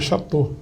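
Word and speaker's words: Château: Aí se pronuncia Chateau, que é o nome francês. O A E o U pronuncia O, a pronúncia fica O, Chateau.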